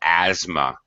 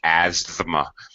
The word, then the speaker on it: asthma: pronunciation by the way it has the th here which is uh basically under pronounced or not even pronounced at all asthma we don't really pronounce the th Asma we don't do that this is actually very common where th is between two other consonants it's very common to reduce it or drop it in English pronunciation like